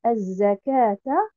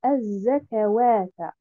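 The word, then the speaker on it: الزكاة: Donc, je devrais dire az-zakata et non pas az-zakawata. Donc, en termes de prononciation, on retrouve il y a une différence entre ce qu'on dit et ce qui est écrit.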